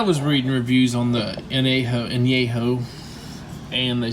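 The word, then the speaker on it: añejo: Espanita tequila, anejo, however you like to pronounce it. I'm sure Americans say anejo, but anejo.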